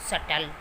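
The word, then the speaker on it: subtle: For example doubt, सटल. तो यहाँ पे टी बी के बाद आया हुआ तो यहाँ पे बी जो है वो साउंड नहीं कर रहा, इसको हम पढ़ेंगे डाउट.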